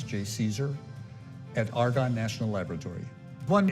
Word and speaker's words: JCESR: I'm director of the Joint Center for Energy Storage Research, which we pronounce JCESR, at Argonne National Laboratory.